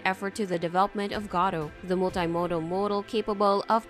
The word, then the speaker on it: Gato: own multi-model model named gato which means cat in Spanish and can also be pronounced as gather what makes this particularly